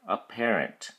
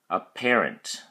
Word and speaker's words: apparent: your flash card okay a parent has three syllables a pair an and the emphasis are stress is on the second syllable pair so we say apparent apparent we use it only